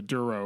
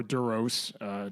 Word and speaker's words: Duros: You see for a brief second, he is of that species, the Duro or Duros, depending on your pronunciation for that.